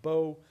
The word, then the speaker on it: bo: So there's this plural morpheme bo, and I'm arguing that some of the speakers of Timucua pronounced it bo, and others pronounced it buo.